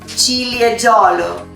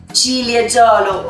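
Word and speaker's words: Ciliegiolo: We made 20% of cherry grape, the Cilieggiolo. Repeat with me, Cilieggiolo. Right. Julia, is it correct? Everybody's saying it right? Cilieggiolo.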